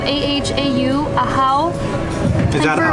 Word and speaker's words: Ahau: It's spelled A-H-A-U, Ahau.